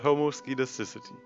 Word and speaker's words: homoscedasticity: Enough about variance, let's talk about homoscedasticity. Honestly, one of the hardest parts for me is the pronunciation. So I'll show you a little trick. You have to divide it into three parts. Homoscedasticity.